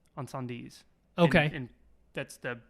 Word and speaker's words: Incendies: is a movie called Incendies. which I think, now that I'm hearing it out loud, I think it's pronounced Encendies. Encendies. Okay. And that's the Right. French way to say it, I guess.